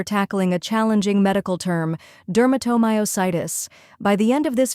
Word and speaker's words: dermatomyositis: step by step Duro think of dur like enduring then moo and finish